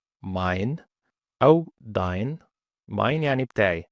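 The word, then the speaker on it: dein: تبقى كلمه مثلا زي ماين ماين ماين او داين ماين يعني بتاعي داين يعني بتاعك فيبقى داين 9ين يعني لا بالانجليزي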